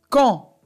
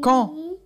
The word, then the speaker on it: quand: Quand. Oui. Quand.